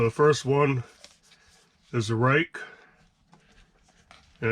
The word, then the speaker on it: Ruike: So that is how you pronounce it, is Ruike.